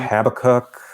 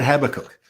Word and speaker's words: Habakkuk: they all pronounce it habakkuk oh yeah i did hear it's a different stress it's more or less the same way it's a stress a little bit later on into the word yeah yeah we have